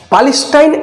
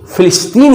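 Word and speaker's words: Palestine: पैलेस्टाइन actually British pronunciation है पैलेस्टाइन, और American pronunciation में इसे फिलिस्तीन कहते हैं।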